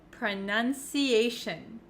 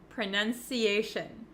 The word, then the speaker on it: pronunciation: but for pronunciation and any word almost that ends in t-i-o-n we actually pronounce it as shin shin so you can see